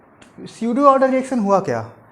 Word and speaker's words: pseudo: आगे पी दिख रहा है, पी स्यूडो ऑर्डर बोलना चाहिए था, लेकिन यहाँ पे पी साइलेंट होता है, जिसको बोलते हैं सिंपली स्यूडो ऑर्डर रिएक्शन।